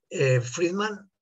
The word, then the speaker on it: Friedmann: Se escribe Friedmann, como lo he puesto aquí, aunque los americanos ahora lo ponen como Friedman y cosas raras, pero en ruso es Friedmann, como se escribe y como se lee.